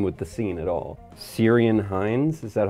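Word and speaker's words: Ciarán Hinds: doesn't blend in with the scene at all syrian hines is that how you say it yes yeah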